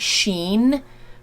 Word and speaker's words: Shein: I've heard some people pronounce it Sheen, but I'm pretty sure it's pronounced Shein.